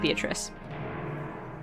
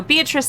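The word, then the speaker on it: Beatrice: um her name is pronounced in the Italian pronunciation of beatric but that's hard for me to say for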